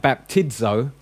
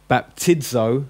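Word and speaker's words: βαπτίζω: Okay, now if you find it in the middle of a word like baptizo, you pronounce it with a DZ. So if it's in the middle of a word, like after an iota, it's going to have a DZ, a Z sound.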